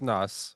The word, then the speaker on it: snus: por Swedish Sno and it's pronounced Snus but so it's pop